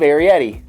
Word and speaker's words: Arrietty: uh herrera aried arietti the secret world of arietti there you go i said it right welcome